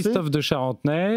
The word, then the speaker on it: Christophe Descharentenay: Et Christophe Descharentenay. Voilà. C'est ça, je l'ai bien prononcé. Christophe Descharentenay.